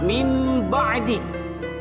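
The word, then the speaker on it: من بعد: Yang pertama, kata min ba'di. Nun mati yang bertemu dengan huruf ba, dibacanya dibalikan.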